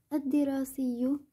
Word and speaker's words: الدراسي: الدراسي لام شمسية كتبت ولم تلفظ.